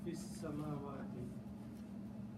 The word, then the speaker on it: fis samawati: Combine this fi with this word, don't pronounce this alif here. Combine fi with sin, fis, samawati. Okay? So because we are not pronouncing the alif, we just replace this with a little swad, small swad sign, that means do not pronounce the alif.